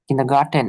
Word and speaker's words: Kindergarten: sauces, হুম, their kindergarten, কিন্ডারগার্টেন। টেন, টেন। kindergarten, ডেন না কিন্তু, kindergarten, টে আছে।